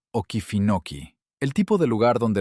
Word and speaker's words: Okefenokee: Bienvenidos a Waycross, Georgia, un pueblo somnoliento entre pinos en el borde del pantano Okefenokee, pronunciado Okefenokee.